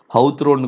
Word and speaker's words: Hawthorne: நீங்கள் ஹத்ரோன்றத ஹவுத்ரோன் கூட நிறைய பேர் ப்ரொனவுன்ஸ் பண்ணலாம்.